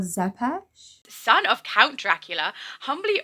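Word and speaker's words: Țepeș: normally am I alukard Tempest I believe that's actually pronounced Alucard zepes son of Count Dracula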